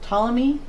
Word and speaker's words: Ptolemy: we had to marry is it Ptolemy's is that how you pronounce his name it is pto but the P is silent I'm thinking and then